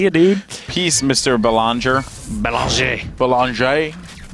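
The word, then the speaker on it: Bélanger: Belanger. So ER in French is pronounced A, and it's at the end of all of their vowels.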